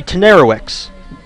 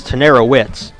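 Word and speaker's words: Tenerowicz: be left to Robbie tenerowicks I think for the first time I said that how I spelled it it's tenerowitz but spelled t-e-n-e-r-o-w-i-c-z and I butchered his name all for not pinch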